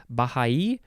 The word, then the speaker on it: Baha'i: There's a few different ways to pronounce it. Baha'i or Baha'i, or yeah.